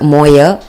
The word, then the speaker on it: mower: The word mower is sounded like mower. Actually, I intended to say a mower, but it was mispronounced.